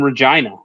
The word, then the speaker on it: Regina: And just my first CFL game, I was in Regina. Rhymes with fun.